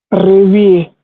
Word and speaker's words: réveiller: So the thing is, this A is also going to be pronounced as A, and the ending here is also going to be pronounced as A. Okay. We just read that anywhere this A Okay. comes in, this A with the accent, it's going to be pronounced as A. So this is ré, then V, I, A, réveiller. And we say this as a singular word, we say réveiller.